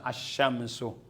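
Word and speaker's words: الشمس: sa al halimbawa siams nung lagyan mo ng al walang sao ng l asamsu okay yan oh ang sadda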